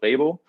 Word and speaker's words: Rhebo: You pronounced it perfectly. So the founder and CEO of Rhebo.